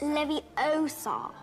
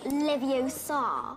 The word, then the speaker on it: Wingardium Leviosa: You're saying it wrong. It's Leviosa, not Leviosa. Oh, sorry, Hermione.